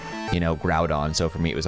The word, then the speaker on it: Groudon: I didn't watch anime that included the proper pronunciation for certain Pokemon names so like Ash and Friends never said you know Groudon so for me it was always screwed on or uh I think it's Kyogre but I